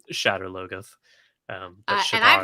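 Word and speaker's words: Shadar Logoth: um the city that the show insists on pronouncing shiddar lugaff we're just throwing some extra syllables in there for sure well in the audio i pronounce everything for the most part the way the audiobooks pronounce it which is shatter logos um and i pronounce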